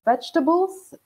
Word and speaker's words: vegetables: can be frustrating so vegetables and the second e is silent so you don't say